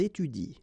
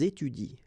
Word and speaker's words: étudient: at the plural form, so and t, well, you don't pronounce it, so you will get ils étudient. All right, ils étudient.